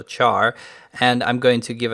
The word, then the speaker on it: char: be of type char some people pronounce it car but I think it's still char and I'm going to